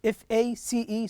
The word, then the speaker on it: face: Also the same with face. F-A-C-E, so we pronounce it face.